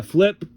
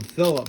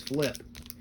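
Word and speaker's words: Filip: I think they call him Philip, but I think it's Flip. I don't know why they call him Philip Forsberg. but I think it looks like it's spelled Flip.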